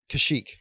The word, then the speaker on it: Kashyyyk: Kashyyyk.